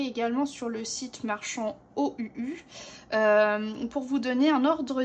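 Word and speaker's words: Ohuhu: Ce sont les feutres à alcool OUU. Donc ça s'écrit O-H-U-H-U.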